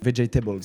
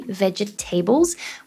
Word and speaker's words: vegetables: Vegetables. So we do not say vegetables, we would say here vegetables. 3 syllables, the same as comfortable as well. We would say comfortable and vegetables.